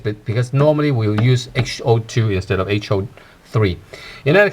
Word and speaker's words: 嗜好: So how do you say hobbies or hobby in Cantonese or in Chinese? We call it 嗜好. Ho actually has a changed tone. It's not HO2 anymore.